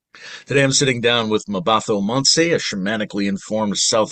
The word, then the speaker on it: Mmabatho: It's Mmabatho. So the THO is pronounced to and not Okay. to. Mmabatho.